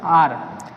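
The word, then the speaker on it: hour: Question number 6 है, सी waited for मी फॉर आर। यहाँ पर देखिए इसको आर पढ़ते हैं, जब यहाँ पर एच साइलेंट है तो यहाँ पर क्या हो जाएगा, एन का उपयोग होगा।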